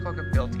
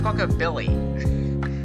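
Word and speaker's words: Squawkabilly: ability and squa ability why don't you saying qu ability it's quab Billy I can't pronounce their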